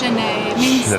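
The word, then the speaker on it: Sinéad: It's pronounced chen. That's it in Irish.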